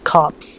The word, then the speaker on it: Copse: I'm going to be doing the Copse path because, Copse is the proper way of pronouncing this area's name.